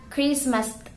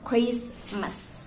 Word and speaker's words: Christmas: We do not need to pronounce the T behind the Christmas word, Christmas. No, we just pronounce Christmas like that.